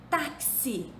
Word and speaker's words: táxi: Táxi se escreve com X, mas se pronuncia como se fosse CS.